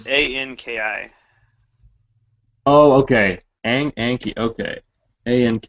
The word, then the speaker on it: Anki: Okay, Enki. Is it just spelled like this, or is it? It's Anki.